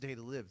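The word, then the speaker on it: Date A Live: I call it data live. I don't know why he calls it data live. Um, I've never heard it pronounced day to live. That was a first for me.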